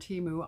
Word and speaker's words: Temu: ever get that right now that I've learned Teemu I wanted to say what was I saying